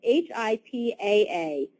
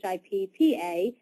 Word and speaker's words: HIPAA: Portability and Accountability Act, and it is HIPAA. A lot of people spell it like they think it sounds, and they say HIPPA, and you will certainly